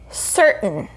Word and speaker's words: certain: word certain certain okay again we have before we have a r sound there's the t sound and then uh the n sound because we don't really say these vowels in between we omit the vowels in between and that happens a lot when there's a t and then a vowel sound and an n we just omit that